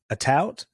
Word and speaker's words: Atout: Atout, right?